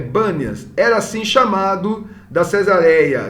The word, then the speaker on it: Banias: Mas como no árabe não tem essa, acho que eles não pronunciam o P, então é Banias, era assim chamado da Cesareia, né?